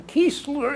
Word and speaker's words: Keesler: I left from, I took my basic training in Keesler Air Force Base. Could you spell it?